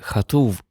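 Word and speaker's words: כתוב: Тут потрібно вимовляти хатув, тому що перше слово перед ним гіне закінчується на гей. А це ніби відкритий склад. голосна. І якщо наступне слово починається на одну з тих трьох букв, які можуть змінюватися при вимові cв, бет, пей, тоді вимовляються вони як хав, вет або фей.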